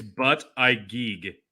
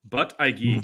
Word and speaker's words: Buttigieg: It's but I geek. But I geek.